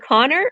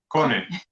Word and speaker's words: Conny: Is it Connor or Connie? Conny. Conny. Connor? Like Sony, but Conny.